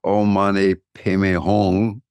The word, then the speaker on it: Om Mani Padme Hum: It's spelled Om Mani Padme Hum, but it's pronounced Om Mani Padme Hum.